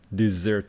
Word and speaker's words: dessert: front of a sweet dessert dessert desert dessert that one is SAR this one is dessert stress on the second syllable anyway sitting in front